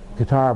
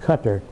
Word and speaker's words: Qatar: People down here, we said Qatar, but they pronounce it Qatar.